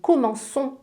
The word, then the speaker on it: commençons: Tu commences mais nous commençons avec une sédille sinon on prononce comment qu'on con.